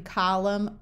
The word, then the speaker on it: column: in crumble or thimble likewise when you have M and N together the N is often silent like in column Autumn or condemn but if